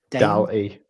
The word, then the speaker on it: DALL-E: DAL-E.